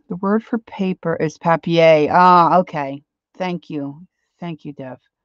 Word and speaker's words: papier: The word for paper is papier. Ah, okay. Thank you. Thank you, Dev.